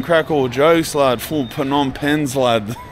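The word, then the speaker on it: Phnom Penh: all jokes lad for pom pens lad that's how it's spelled pom pen I don't like the silent P pen P pans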